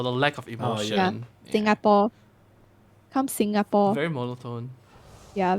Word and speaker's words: Singapore: For example, the biggest example we can say Singapore, the country. Singaporeans will pronounce as Singapore. Singapore is Singapore. Yeah, come to Singapore, like that. But actually, the British way of pronouncing is Singapore, I think.